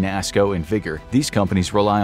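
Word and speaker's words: NASSCO: Though there are a handful of major players like BAE, MHI, NASCO (pronounced nass-co), and Vigor, these companies rely on literally thousands of different sub-contractors that work underneath them.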